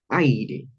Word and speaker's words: aire: Aire. Esta primera sílaba, el ay, definitivamente es tónica. Entonces, esto definitivamente aquí recae un tiempo marcado. Ay, y la palabra, y la sílaba are es también, por supuesto, átona.